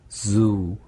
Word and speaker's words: Zoo: U 발음 길게 해주시면 되고요. Zoo. Zoo. 네, Zoo. Zoo. 네, 잘못 발음하면 그냥 주. 주. 네. 그렇죠. 그 J 발음하고 다른 발음이다.